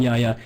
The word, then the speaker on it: Jaja: It's probably someone different, but I know there's a TF2 trader named Yaya. It's spelled Jaja. It's spelled like how you laugh in Spanish. You type out a laugh.